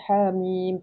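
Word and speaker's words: حم: Tapi kalau kita baca dalam al-Quran kita baca daripada ejaan ha alif ha mim. kan ha dua harakat. Nah, iya itu mm bacanya panjang.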